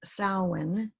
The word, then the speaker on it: Samhain: Spelled Samhain, the pronunciation now heard most is Samhain, is the name of a 2,000-year-old Celtic festival, which means summer's end.